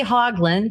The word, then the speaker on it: Hoglund: We say Hoglund, oddly enough.